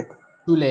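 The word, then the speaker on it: Schule: शूले, exactly, ठीक है, स्कूल को कहते हैं शूले।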